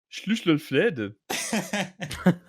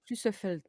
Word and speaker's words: Schlüsselfeld: En Allemagne, une brasserie située dans la ville de Schlüsselfled. Schlüsselfled. Attends, tu sais quoi, je vais le noter dans le chat du truc, le premier qui me le prononce correctement, il a toute ma gratitude. Schlüsselfeld.